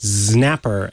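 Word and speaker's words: Xnapper: because I I used to pronounce it Snapper and then they added this little sub line to their uh the website that says read like Snapper I'm like okay I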